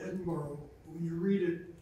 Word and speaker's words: Edinburgh: Why is it that we all say Edinburgh? When you read it, it's Edinburgh.